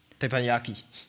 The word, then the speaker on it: teppanyaki: Teppanyaki.